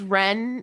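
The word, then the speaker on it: Wren: it's like you because Ren is spelled Wen like the bird you don't really put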